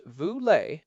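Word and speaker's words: Vu Le: There is a movement called nonprofit AF led by Vule pronounced Vule and they are demanding a 5:1 ratio between the highest and lowest paid employees in any organization.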